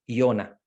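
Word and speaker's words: יונה: No sé, pongamos el nombre de Jonás o Iona, que es como se escribe en hebreo, Iona, que después en español decimos Jonás, pues Iona, quiere decir paloma, ¿verdad?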